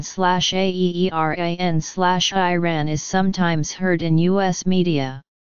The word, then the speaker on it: Iran: According to an article published by the Washington Post, the correct pronunciation of Iran is slash Ieeran slash, while slash Aeeran slash is listed as the incorrect pronunciation.